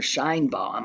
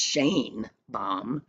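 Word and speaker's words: Sheinbaum: Her name is, I was calling her Shine Bomb. I saw today that it's pronounced Shane Bomb.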